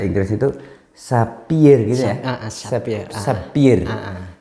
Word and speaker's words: sapphire: Sapphire. Bacanya dalam bahasa Inggris ya sapphire ya, sapphire.